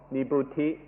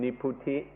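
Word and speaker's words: nibbuti: first kind of coolness is called nibuti or in the thai pronunciation niputi niputi is a coolness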